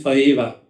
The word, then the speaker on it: faiva: faiva - la Favilla or pronounced faeva Which is - una